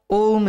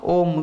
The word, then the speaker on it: ओम: हो तो सर्व प्रथम ओम का उच्चारण कीजिए आ उ म और अ मात्रा में पूरा विश्व और ब्रह्म भी है आ उ म इन तीन मात्राओं में ये पूरी प्रकृति है